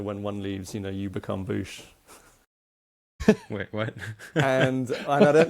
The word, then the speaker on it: Bouche: is spelled OOSH, and this is Boosh spelled with as in mouth. Like the French way, mouth media.